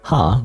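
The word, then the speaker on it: は: You pronounce it wah. By the way even though this is ha normally when it's used in a sentence by the way it's pronounced wah.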